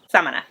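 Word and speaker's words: Samaná: Hometown which is Samana I kept saying it wrong I think it's Samana Samana it was so much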